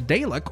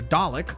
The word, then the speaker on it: Dalek: Also, he will be coming along with the Dalek, or the Dalek, I think is the more proper pronunciation of that.